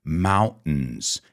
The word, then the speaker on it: mountains: start with the pronunciation mountains now that's the a la Americana pronunciation you know in the United States we say mountains fountains certain we have that glottal stop but you can also